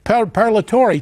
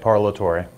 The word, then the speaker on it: Parlatore: Fisher Broyles from newsmax New York Timothy parallel parallel Tory Timothy I apologize if I mangled your last